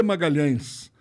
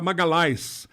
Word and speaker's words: Magalhães: nome é Sidney de Magalhães e o Magalhães na Itália não é pronunciado LH não existe então era Magali a Magali esmagá-las não existe nada pior do que isso um empresário italiano pegou